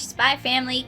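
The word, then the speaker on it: Spy × Family: We watched Spy Family Code White. No. Spy X Family. We pronounced the X, right? No. This is like a Hunter times Hunter situation, right?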